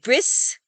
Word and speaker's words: bris: But some Ashkenazi Jews pronounce it like an S in some environments. And so this is why Ashkenazis say Shabbos for Shabbat, and bris instead of Brit, which is the circumcision ceremony.